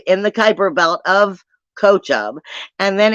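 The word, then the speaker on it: Kochab: And this is I used to call it Kokub. I was always pronouncing it wrong. It's Kochub.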